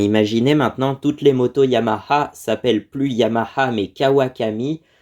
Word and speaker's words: Yamaha: ça se prononce bien Yamaha le H en japonais se prononce vraiment ha c'est vraiment ha hi